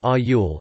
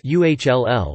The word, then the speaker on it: oil: The word oil, which is pronounced in standard forms of English with 2 distinct vowels, almost like ayul, is pronounced instead as uhll, with the vowel part of the word pronounced like the vowel sound in book.